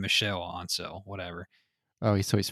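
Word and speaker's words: Michel Ancel: director michael and cell apparently you say his name michelle ansel whatever oh he's so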